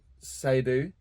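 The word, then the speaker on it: Saidou: Oh, we're about to drop one very soon by a kid called Sadu. I think that's how we pronounce it. S A I D O U.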